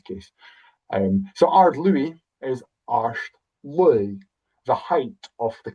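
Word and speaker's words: Àird: And you can pronounce it Ard if you're from Lewis, or Arsht if you're from anywhere else.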